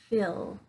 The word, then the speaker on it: fill: fell okay so this word up here is fill phil so you got the it the short